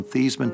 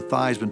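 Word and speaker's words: Theismann: think by just simply changing the pronunciation of your last name from thian to thyman to rhyme with Heisman we can get you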